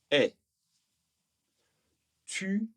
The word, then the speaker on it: est: Attention à l'écriture, ce t est nécessaire, il est obligatoire mais il ne sera pas prononcé.